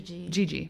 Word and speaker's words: Gigi: Gi. Gigi.